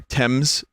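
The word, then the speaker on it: Thames: tames river or sorry TS it's the TS right even though it's spelled t h a m s TS please don't say it like that I'm not I'm not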